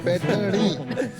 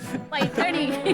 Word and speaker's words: पैठनी: स्लोनी, पैठनी, वो जरा प्रोनाउंसिएशन इनका चेक कर दीजिए। पैठनी। पैठनी।